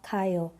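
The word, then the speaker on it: 가요: Estas sílabas con estas desinencias se van a contraer y no vamos a tener ga, ayo, sino kayo, ¿ok?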